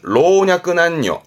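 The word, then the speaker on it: 老若男女: 늙고 젊고 남녀 순입니다 발음은 로냐 난요 조심할 건 남녀의 경우는 그렇죠 다시는 발음대로 남녀는 보통 단죠 단조 합니다만 내 글자로 묶을 때 발음은 로냐 안요 로냐 안요 로 기억해 두세요 이게요 음으로는이 정도면 되고요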